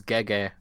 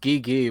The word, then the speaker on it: Gege: name the way it's actually spelled and pronounced is gege because Gigi would be like the idea uh so it's